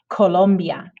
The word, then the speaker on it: Colombia: circo and then letter c in front of the vowels a o or u sounds like a k sound colombia el coco the letter g also has